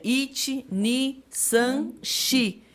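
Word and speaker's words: 四: Shi é o número 4 e Shi é a mesma pronúncia, é uma onomatopeia que fala... Não sei que figura de linguagem, que a escrita é diferente, mas a pronúncia é a mesma, de morte.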